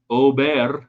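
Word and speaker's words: Åberg: Ludwig Ober, if we want to say it correctly, 16th, FedEx Championship, does it on torn up knee for most of the year.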